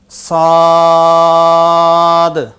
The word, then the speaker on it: صاد: এই হরফটি জিহ্বার আগা, সামনের নিচের 2 দাঁতের পেট ও আগার সাথে লাগিয়ে শীষ সহ উচ্চারণ করতে হবে।